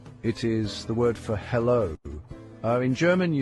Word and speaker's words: Hallo: It looks like the English word hello, doesn't it? Uh it even sounds very similar. Just say the English word hello as in Halloween. That is very close to the German pronunciation.